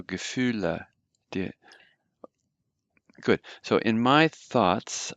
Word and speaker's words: Gefühle: Remember always to pronounce all the letters. So Gefühle.